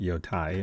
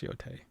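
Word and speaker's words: Yōtei: I think I've been calling it Yotai in the first episode, but it's Yote.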